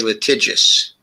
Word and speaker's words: litigious: I should say litigious. Litigious. There it is. There it is. The right way to pronounce it.